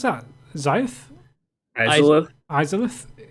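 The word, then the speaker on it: Izalith: How do you pronounce that? Zyth? Izolith. Izolith? Izolith.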